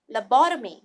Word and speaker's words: lobotomy: treat some mental disorder let us look at the phonetic note lo bought of me and then let's combine it lobotomy it will be helpful